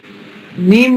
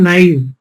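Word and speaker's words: naive: नेम नहीं, सही उच्चारण होता है नाइव, नाइव।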